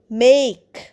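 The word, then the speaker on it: make: ভালোবাসে এম এ কে মেক মেক মানে তৈরি করা দেখো মেকে কিন্তু উচ্চারণ হচ্ছে না আমরা মেকই বলছি না মেক বলছি এবং এর উচ্চারণটা সেটা লম্বা উচ্চারণ হচ্ছে I will মেক কেক today.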